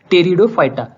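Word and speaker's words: Pteridophyta: इसकी स्पेलिंग जो है वो पी से शुरू होती है लेकिन उसका जो प्रोनाउंसिएशन है वो टी से है, टेरिडोफाइटा।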